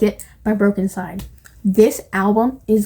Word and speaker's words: Broken Side: route like fans of I always say Brooklyn Side. Fans of Broken Side also like, by the way, it's spelled with a Y. Broken, SYDE.